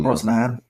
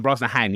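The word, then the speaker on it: Brosnahan: Um, Rachel Rosnahan. Rachel Brznahan. Yes, that was right. So, I took note of that interesting pronunciation.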